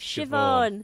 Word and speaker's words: Siobhan: See, it was even it even came up when I started to when I typed in how to pronounce. It's Siobhan.